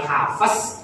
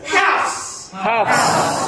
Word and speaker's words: Hafs: Nama imam yang kita ikuti cara baca Qurannya bukan hafaz tapi sama-sama hafs. Siapa? Hafs. Nah, dari gurunya Imam bukan hafs. Kita mengaji dengan hafs bukan hafaz.